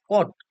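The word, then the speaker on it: cot: করবো টান আচ্ছা এরপরে কোটানজেন্ট কে আমরা সংক্ষেপে উচ্চারণ করব কট কট হচ্ছে কোটানজেন্ট এটাকে আমরা বলবো হচ্ছে উচ্চারণ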